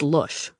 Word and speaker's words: Lush: Her childhood name for me was Lush, rhyming with tush, which she never defined or explained.